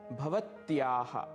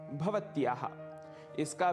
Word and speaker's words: भवत्याः: एवं तीसरा पद है भवत्याः। भवत्याः, इसका भी अर्थ है आपका, पर यह स्त्रीलिंग के साथ ही प्रयुक्त होगा।